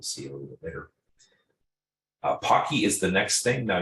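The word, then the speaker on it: Poky: It's essentially a long, straight pretzel that's been dipped in chocolate, and it's P-O-C-K-Y. The name of the Pocky distribution was named after that particular food, effectively, and so that's how it's pronounced.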